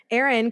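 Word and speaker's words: Ehren: a new writer here Aaron Krueger and it stars some of our Freddy's brother exactly that's what I said well it's spelled in a very fancy way e-h-r-e-n I've never seen Aaron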